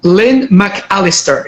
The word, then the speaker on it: Lynne McAlister: so Lan first thing ly McAlister is am I pronouncing your name correct yes that's right okay wonderful Galahad so